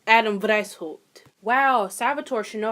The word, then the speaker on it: Weishaupt: Adam White. Oh, Lord. Is that German? Wow, it is German. Wow, I should probably fucking know that. So, the founder was actually Adam Weishaupt.